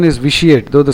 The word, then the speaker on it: vitiate: debase to weaken morally corrupt so vitiating the pronunciation is vitiate though the spelling is v i t i